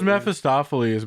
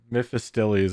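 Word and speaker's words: Mephistopheles: it wasn't quite no it was mephistophiles but it was pronounced wrong like the emphasis were on the wrong syllables yeah mythes or something there it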